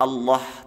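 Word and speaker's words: الله: ikut bergerak sekali lagi cara membaca lafadz Allah tafkhim ya tebal itu diucapkan dengan meratakan ujung lidah ke langit-langit nah ingat suhunya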